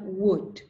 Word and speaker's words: would: walk talk would okay so remember these are silent L words you don't pronounce the letter L like this we have